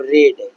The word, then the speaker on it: read: I have रेड। रेड मतलब V3 को रेड पढ़ते हैं, स्पेलिंग सेम होता है, रीडी होता है।